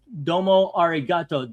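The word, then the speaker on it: domo arigato: It's pronounced Domo Arato. Domo Ariato, Mr.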